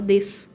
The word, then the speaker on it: desço: de Hi dígrafo aqui você não pronunciou essa então você não fala deixo você fala desso e aqui não é